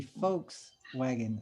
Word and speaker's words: Volkswagen: spelled where well the the v is in victor is i think it's pronounced like an f i don't know or maybe i'm wrong no yeah volkswagen is actually folks wagon like like the people's folks folk as in people folks and and